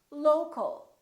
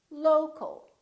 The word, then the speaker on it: local: For example, we stress the first syllable here, low, low, but we don't say local or local. We reduce the second syllable and it becomes the local, local. So you see OL and AL sound exactly the same because they're both reduced syllables.